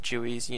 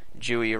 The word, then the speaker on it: GUI: It might bother you that I'm pronouncing Jooey wrong. I pronounce it Gooey in that episode, but yeah, so you'll just have to get past that.